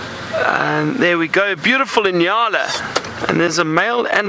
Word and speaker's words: Nyalas: and those are called Nyalas. Very funny name. It's spelled N-Y-A-L-A, Nyalas.